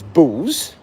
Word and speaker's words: Beau: Elisa says bows, Buttons and bow, spelled B-E-A-U.